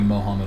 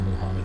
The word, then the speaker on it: Muhammad: no thousand Arabic snow could be Mohammad or Muhammad but Muhammad is the way that I usually pronounce it another less I'm as